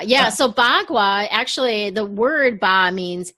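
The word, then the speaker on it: bagua: showed that card up well how do you pronounce it again ba kua ba gua yeah so ba gua actually the word ba means eight and Gua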